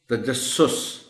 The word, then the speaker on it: تجسس: تو اچھا ہوگا۔ انتہائی، تجسس پہلے سین کے اوپر شد کے ساتھ پیش ہے۔ تجسس، اصرار، اصرار محترم ٹیچر